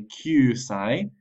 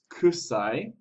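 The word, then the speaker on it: 九歳: is qite qite and be careful that you say qai and not kusai for 9 years old because cusi means stinky 10 years old is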